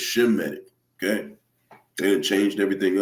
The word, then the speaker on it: Semitic: Semitic, that's not how you say it. It's Shemitic.